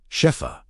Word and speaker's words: Shefa: Shefa, pronounced Shefa with equal weight on both syllables.